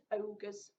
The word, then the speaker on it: ogres: So I'm going to tell you how to pronounce this, and it is ogres.